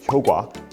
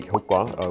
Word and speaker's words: 효과: So, words like 효과, which, should be pronounced 효과, but people will still say 효과, which is acceptable according to the institute.